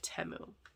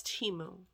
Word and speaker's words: Temu: making all these videos we called it temu because we had no guidance and now it's Teemo and now all these people are emailing me saying I'm saying it wrong like you know more